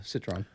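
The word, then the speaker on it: Citroën: another one of the Citron am I saying it right Citron Citron I say Citron but whatever catron Citron depends if you're American yeah so this is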